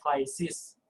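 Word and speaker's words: κλῆσις: kedua adalah krisis ini ditulisnya flash tapi dibacanya kleissis jadi ada Kaela y-site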